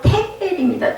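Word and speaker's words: תקל: 대겔이라는 말은 원어의 원발음으로 테겔입니다. 테겔.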